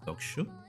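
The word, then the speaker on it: 読書: the doku here, and I notice when Japanese people pronounce some words, they abbreviate them and it becomes dokusho. Like you barely hear the U.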